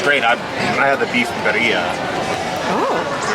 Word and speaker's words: birria: I had the beef birria.